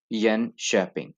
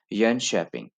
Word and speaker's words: Jönköping: The alphabets to, तो यन और फिर Jönköping, यस, Jönköping, क्योंकि के एंड है तो इसलिए इसको श पढ़ा जाएगा, Jönköping, एंड देन टी जे शू, श, शूव, यस।